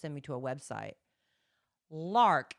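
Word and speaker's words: Larq: Lark. It's spelled l a r q, and I'm assuming it's Lark. It could be Lark a.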